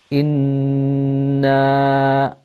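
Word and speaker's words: إنّا: a noon with a shadda on it, which means that we elongate the sound of the noon. And also we have ghunna, this sound that emanates from the nose. Inna, and then as you pronounce the noon with the fatha on it, then your upper jaw needs to move up.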